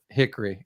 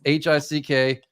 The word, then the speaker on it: Hickory: has a bit about Hickory, and it's not Hickory, it's HICKRY, Hickory, Yeah, and that's Hickory.